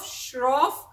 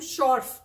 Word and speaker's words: Shroff: movie is bog III so it stars tiger shroff and I always call him what what do I call every time I call him something else instead of Shroff I think I called him short and then he keeps telling me it's not